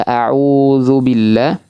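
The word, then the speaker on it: أَعُوذُ بِاللَّهِ: Karena ana masih sering mendengar membaca kata auzubillah dengan menebalkan huruf dal karena pengaruh monyongnya lidah, monyongnya bibir pada saat mengucapkan huruf ain. Ya, maka ini hati-hati Bapak Ibu sekalian ya. Jangan sampai ee dalnya ditebalkan ya.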